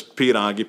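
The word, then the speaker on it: pīrāgi: It is spelled very similar. It's pierogi, P-I-R-A-G-I.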